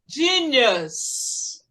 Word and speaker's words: genius: Esse U aqui tem o som de bus, ônibus. Bus. Repeat. Bus. Bus. The bus. The bus. Us. Genius.